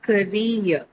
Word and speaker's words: career: It has only 2 syllables. So you have ka and then rear. That ear that you hear is actually a diphthong sound.